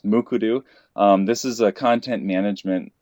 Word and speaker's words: Mukurtu: It's kind of a difficult word to pronounce, but it is pronounced. I gave that little cheat sheet there in the first bullet point as Mukurtu.